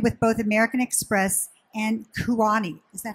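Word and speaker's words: Kuoni: 2005, and affiliated with both American Express and Kuani. Is that how you say it? Yes. Kuani.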